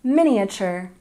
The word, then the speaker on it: miniature: Leisure and number 13 miniature stress the first syllable miniature miniature and number 14